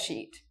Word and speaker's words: sheet: paper or a bed sheet. So notice you have two E's, it's an E, sheet. This one, shit.